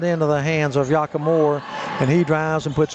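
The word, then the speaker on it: Yakemori: That's a Yakamura. Pronounced, spelled Y-A-K-E-M-O-R-I. Yakamura. Back up.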